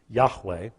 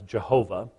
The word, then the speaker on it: Yahweh: four letters you see it there in Hebrew Yahweh we slaughter it in English as Jehovah that's actually a Germanic pronunciation that really isn't possible as having been